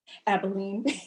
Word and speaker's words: Abilene: you mentioned uh i say abilene how's it pronounced abilene exactly okay my first market was victoria so